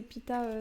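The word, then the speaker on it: Peeta: C'est Pita, mais c'est Pita, ça s'écrit P-E-E-T-A.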